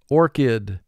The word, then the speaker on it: orchid: Here again, CH is representing the K sound, so we double underline it.